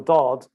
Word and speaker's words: ض: So that is how the dod was originally pronounced, lo, lo.